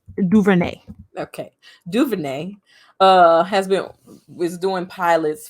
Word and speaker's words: DuVernay: Like, I just don't know how to pronounce her last name. Ava, how you say her last name? Duvernay.